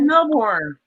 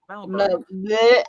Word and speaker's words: Melbourne: said Melbourne. Melbourne. I had Mel- it right. Melbourne. I can't roll my R's or anything, and that's like a rolling R thing.